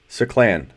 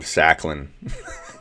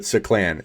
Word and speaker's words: Saclan: I've been calling him Sacklin. I'm embarrassed. Until he changes the pronunciation again. I feel like you've told us 4 different ways. But Saclan.